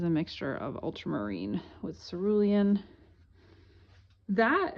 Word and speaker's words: Cerulean: mixture of ultramarine with Cerulean that every time I say culan am I saying it right like I feel like Cerulean rhymes with Julian it's a name all